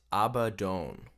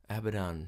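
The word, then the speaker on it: Abaddon: Changes Everything Changes okay so according to this it's uh actually pronounced abadone abadone so abadan Rhymes better though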